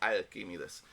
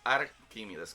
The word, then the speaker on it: Arquímedes: escritura, no sé, pero la ciencia no reconoce un talquímides. Sí reconoce a Arquímides con R.